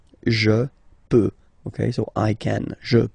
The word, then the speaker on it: peux: Final X not pronounced here, okay? So you get X, but you don't pronounce it, so basically you get the sound peut, je peux, okay, so I can, je peux, okay.